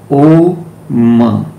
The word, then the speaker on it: Om: These three basic sounds, A, O, M. Hindus created out of this the sound, three syllable sound, Om.